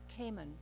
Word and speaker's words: Cayman: as opposed to Cayman I've always pronounced that as Caiman with the accent on the first syllable and you pronounce it